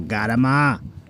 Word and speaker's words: calamari: Because in my family, when people go, Garama, Garama, it means calamari. Because we're stupid Italians that don't know how to pronounce things correctly. Well, it's not that we're stupid, it's just we pronounce the C as a G. I don't know why, and we get rid of that, and we get rid of the I at the end.